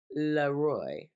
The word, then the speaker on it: Leroy: pronounced Leroy, because it's French.